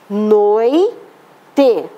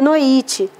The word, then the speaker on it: noite: em que uns dois casos eu faço a pronúncia dos dois elementos vocálicos noite se a palavra tivesse sido falada é pronunciado errado eu diria nuit Você sabe o que é noite vou dar